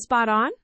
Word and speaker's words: spot on: The, t, at the end of hack, spot, often links to the, o of on. So it sounds like spoton in fast speech.